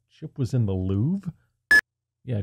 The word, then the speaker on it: Louvre: I'm looking over your copy and it says Chip was in the Louvre. Yeah, just because the R is silent doesn't mean you don't put it down on paper.